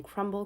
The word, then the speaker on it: Crumbl: It's spelled crumble, but with like out the E at the end of it. So it's just CRUMBL.